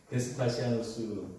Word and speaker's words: 베스파시아누스: 그렇게 네로의 뒤에 이어서 티투스 장군의 베스파시아누스 발음이 베스파시아누스 이 장군이 황제가 되고 얼마 뒤에 이 베스피아누스 황제도 죽고 뒤이어서 티투스 장군이 왕이 다시 이어서 황제가 되지만 다시 이 황제도 2년 뒤에 죽고 말죠.